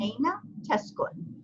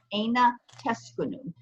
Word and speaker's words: أين تسكن: Technically, there's actually a dhamma that goes over this noon. It's typically not pronounced. If you're writing it fully voweled, you'd have to know that it's there. Okay, so there would be a dhamma. So if you read it completely voweled, totally voweled, which most people don't, it would be aina teskunu, aina teskunu, okay?